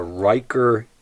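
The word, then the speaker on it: Rieker: They're from the Riker Instrument Company. It's spelled R I E K E R instrument company of Fcraftoft, Pennsylvania.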